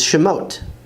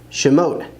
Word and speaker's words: שמות: Exodus is Shemot, Shemot, names.